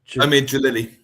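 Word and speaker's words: Omid Djalili: But I always get his name wrong. Help me out. The brilliant comedian, Omed Omid. Omid Jalini.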